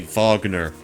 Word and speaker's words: Wagner: like like the German like you would say Vagner back in Germany instead of Wagner we should call the